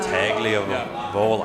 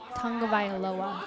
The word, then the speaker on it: Tagovailoa: Tua Tagliavola. I can't even pronounce the name.